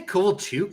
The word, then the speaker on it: Kovalchuk: You get like the only real exceptions being like Ilya Kovalchuk, who that was only the second game. I didn't even win the cup. You say Kovalchuk? It's Kovalchuk. It'd be pronounced like Like if you're going for like,